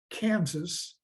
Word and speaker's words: Kansas: people of the Southland Kansas is from the English spelling so we pronounce the final s the French however left